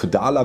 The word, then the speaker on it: Daler: Daler like Taler only spelled with a D?"